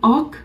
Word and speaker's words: och: The pronunciation of both ok is same, ok, ok. Ok is and, O-C-H, ok means and,